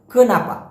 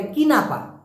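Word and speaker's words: kenapa: খো নাপা অনেকে বলে কিনা পা আবার অনেকে বলে কানাপা না কানা বয়রা আপা না এটা হবে খান নাপা প্লিজ সঠিক উচ্চারণটা করেন আপনার সাথে সঠিক ভাবে মানুষ কথা বলবে খুনাপা খুনাপা খুনাপা মারাহ কেনাপা মারাহ লাস্টে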